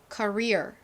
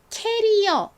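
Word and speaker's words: career: 보세요 의미도 생각해 보시고요 뒤쪽에 강조를 하면서 커리어 커리어 이렇게 읽으셔야 된다고 말씀드렸죠 가끔씩 커리어를 캐리어 이렇게 말하시는 분들도 계시더라구요 캐리어가 아니라 커리어 커리어 이렇게 발음해 주셔야 합니다 한국식으로 말을 할 때에도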